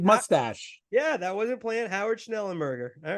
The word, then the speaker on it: Howard Schnellenberger: Howard Schnellenberger.